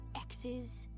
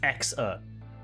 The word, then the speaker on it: EXA: You ever hear about these things called X's? That's not how it's pronounced. It's X-er. It's clearly got an A on the end.